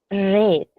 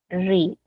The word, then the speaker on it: read: tenemos el verbo leer el verbo leer en tiempo presente sabemos que es re para pasado ojito para pasado se escribe igualito pero ojito acá se escribe igualito pero la pronunciación es distinta acá la pronunciación es red ojo acá es red Okay en tiempo presente es read Okay en pasado es red si se dan cuenta